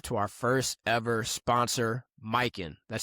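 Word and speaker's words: Mykyn: We want to show some love to our first ever sponsor, Mikin. That's spelled M Y K Y N.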